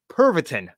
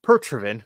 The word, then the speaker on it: Pervitin: use of highly powerful drugs called Pervitin, not Pertrivin. God, I'm such a dumbass. I can't say shit right. Pervitin. The pronunciation of that word is Pervitin.